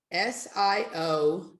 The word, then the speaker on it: Siobhan: S-I-O-B-H-A-N. B-H-A-N. S-I-O-B. And how do you pronounce that?